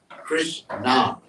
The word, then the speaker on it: Krishna: Krishna. It's composed of two syllables.